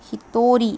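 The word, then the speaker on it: 一人: in it is going to be read as he thorry where he thought of course is from the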